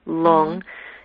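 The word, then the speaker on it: rlung: R and then capital l u n g long or l o o n is the way You' pronounce it and L translates as wind right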